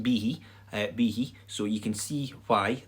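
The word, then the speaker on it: bithidh: version of b-i-d-h which is b-i-t-h-i-d-h and it's pronounced b b he so you can see why the spelling reflects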